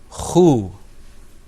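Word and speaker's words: خُ: And then that third letter that you see there is pronounced khu.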